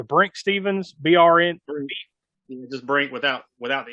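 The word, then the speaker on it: Brinke Stevens: It's either Brink Stevens, BRN.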